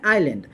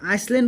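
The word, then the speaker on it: island: এটা উচ্চারণ করব আমি ফক বলি এটা হচ্ছে আইল্যান্ড এটা আমি কি উচ্চারণ করব আইল্যান্ড বলি কিন্তু আইসল্যান্ড বলি উচ্চারণ ন করব আমি এস মাঝে এস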